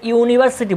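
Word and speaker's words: university: তাহলে নিয়ম অনুযায়ী এখানে এন বসার কথা ছিল, কিন্তু যেহেতু এটার উচ্চারণ ইউ এর মতো নয়, যখন আমরা ইউনিভার্সিটি বলি তখন ওয়াই ও ইউ এর মতো উচ্চারণ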